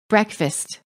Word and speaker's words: breakfast: exactly the same as the first word the vowel is pronounced differently because it is part of the reduced syllable man salesman pose purpose race Terrace late chocolate cord record rage courage fast breakfast land England now listen